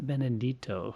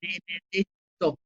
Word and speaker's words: Benedetto: So now on to my interview with Silvana Benedetto, who has a wonderful story to tell about